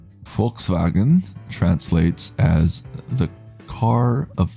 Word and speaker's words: Volkswagen: By the way, I wanted to tell you that Germans pronounce the word Volk well. Yeah, Volkswagen like folkswagen. Folkswagen. So with F. German V basically sounds like English F.